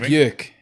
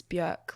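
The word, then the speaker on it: Björk: i never pronounced it beak until tonight how did you pronounce it bjork oh okay yeah i think she said in an interview once it's bjerk like jerk right ah so that's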